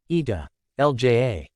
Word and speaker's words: Italia: The name, Italy, comes from the Latin, Italia, pronounced, Ita, Lja.